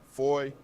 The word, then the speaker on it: foyer: Foyer is pronounced like foyer.